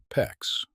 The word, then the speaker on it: PEX: PEX, which stands for cross-linked polyethylene, say it PEX rhymes with flex, is the modern solution.